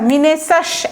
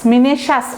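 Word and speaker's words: minacious: আচ্ছা, মিনেসাস একইভাবে মিনেশাস উচ্চারণটা দেখেন আমারও ভুল হচ্ছে মাঝে মাঝে বলতে, বারবার বললে ভালো করে শুনবেন, উচ্চারণটা হচ্ছে মিনেশাস, ঠিক আছে?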